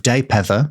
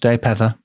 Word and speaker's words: Dalpedder: Marion of Daypether, which is spelled Dalpedder, but I think is pronounced Daypether. Daypether.